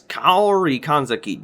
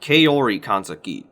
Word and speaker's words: Kaori Kanzaki: church's necessaries kaori kanzaki again it's kauri kanzaki not kaori kanzaki what is it with these english dubs getting the pronunciation of some names wrong it is an insult